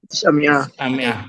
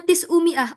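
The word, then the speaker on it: تسعمائة: Tis'amiyah. Sementara kita bacanya tis'umi'ah. Oke, semuanya. Bilangnya apa? Tis'u. Nah, kurang ain. Tis'umi'ah ya.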